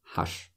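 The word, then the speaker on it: ҳаст: them has has and just like seven we don't pronounce t at the end has like that so he works from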